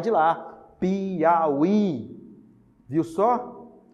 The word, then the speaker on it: Piauí: Piauí. Viu só? Você tem aí a posição final, o hiato na posição final, formando sílaba sozinho.